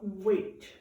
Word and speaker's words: weight: And it is spelled very funny. W-E-I-G-H-T. What? I hear way. I hear an A. There's no A in there. There's a bunch of letters in the middle. I hear the W in the tab, but